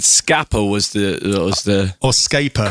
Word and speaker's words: Scapa: Scapa. There's no R. I know, but it's pronounced Scarpa for some reason.